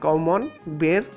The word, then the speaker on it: Camembert: और French word है बड़े-बड़े शेफ भी इसे गलत प्रोनाउंस करते हैं इसका जो असल प्रोनाउंस है कमन बेर प्रोनाउंस किया जाता है और दोस्तों एक मजेदार